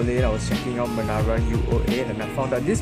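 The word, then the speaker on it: Menara UOA: and what i realized it's not called manara uob it's actually called manara u-o-a so i realized i've been saying it wrong for the past this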